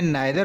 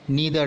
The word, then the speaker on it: neither: इसे British English में नाइदर nor pronounce करते हैं और अमेरिकन इंग्लिश में नीदर नॉर।